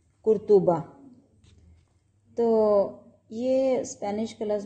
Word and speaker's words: قرطبہ: کہ اس کے اوپر توئیں کے اوپر بھی یہ دیکھیں نا آپ جو ہے وہ پیش ڈلی ہوئی ہے، تو آپ کا صحیح تلفظ جو ہے یہ دیکھیں قرطبہ۔ تو یہ اسپینش کا